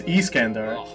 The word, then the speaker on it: Iskandar: this over oh yeah well first of the pronunciation is Iskandar but aside from that yeah they're to me